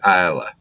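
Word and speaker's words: Islay: island called Isla and you spell it i-s-l-a-y looks like Isley but you pronounce it Iowa and I'm not even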